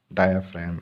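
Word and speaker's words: diaphragm: डायाफ्राम, इसमें जी silent होता है, इसको क्या बोलते हैं, डायाफ्राम।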